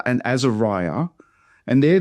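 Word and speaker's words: Azariah: And there the A at the start of Azeriah. It's pronounced on its own. It's again got a silent Hebrew letter, but the A is a single syllable for our sakes.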